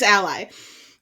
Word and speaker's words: Ally: It's the writer's ally. Right, it's what that is. Because there's Ali. And it's spelled Alley, but it's not Alley, it's Ally.